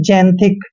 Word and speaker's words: xanthic: जैसे कि मैंने बताया एक्स के बाद ए आता है तो एक्स का उच्चारण हम जय करते हैं और ए का उच्चारण हमने ए करना है। एन को आधा न पढ़ते हैं और टी एच का उच्चारण हम थ करेंगे और आई को ई की मात्रा पढ़ते हैं। सी का उच्चारण यहाँ पर क करना है, यानी कि जैंथिक।